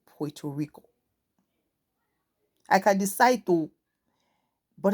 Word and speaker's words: Puerto Rico: language is there but I pronounce it because I heard it and like oh this is the proper way of pronouncing it Puerto Rico I can decide to